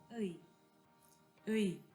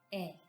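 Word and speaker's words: 의: Cuando está por sí sola, esta partícula se pronuncia como u uy. Pero cuando está junto a un sustantivo o un pronombre, también se puede leer y pronunciar como e.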